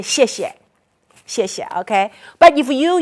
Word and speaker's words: 谢谢: Okay, so when you say, when a lot of Chinese English people or American, they see XIE, they don't know how to pronounce. Can you pronounce it? If you use your American phonics. That would be right? But in Pinyin, it's a 谢谢.